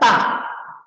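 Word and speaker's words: 大: Bacanya ta. Ta itu nada keempat ya, artinya besar.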